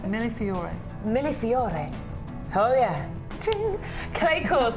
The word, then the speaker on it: Millefiori: How do you pronounce it? Millefiori.